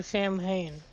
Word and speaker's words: Samhain: I think it's Sam for Sam Hain. If It's technically pronounced Samhain, but yeah, that Sam is.